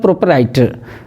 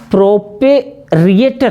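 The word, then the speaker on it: proprietor: चूँकि हम बोलते प्रोपराइटर हैं इसलिए स्पेलिंग गलत हो जाता है। हमको क्या याद करना है, दरअसल जो प्रोपराइटर है ना, ये प्रोपेरिएटर है। प्रोपेरिएटर जैसे बोलोगे गलत हो जाएगा, प्रोपरिएटर है।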